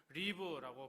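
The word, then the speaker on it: רִיב: 이제 발음도 이제 기억하실지 모르겠습니다. 리브라고 발음 발음하는데 단순히 조금 기분 상한 이런 정도가 아닙니다.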